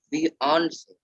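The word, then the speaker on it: fiancé: In Hindi, it's right fiance. Fiance, because it's a French word, so it's fiance.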